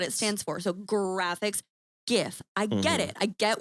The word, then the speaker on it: GIF: GIFs.